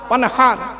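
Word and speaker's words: وانحر: ইন্না আতাইনাকাল কাউসার ফাসাল্লি লিরাব্বিকা ওয়ানহার, হাই হুটি, এই গলার ভেতর থেকে হে এটা উচ্চারণ করবেন, ফাসাল্লি লিরাব্বিকা ওয়ানহার।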